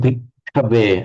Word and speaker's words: bhikkhave: Chittam bhikkhave. Again, you've got to hold the ka.